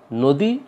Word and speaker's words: নদী: আর পরবর্তীতে যেহেতু দয়ে দীর্ঘইকার আছে, কাজেই আমাদের এখানেও এই উচ্চারণটা হবে এরকম, নদী। নদী হবে না, হবে নদী।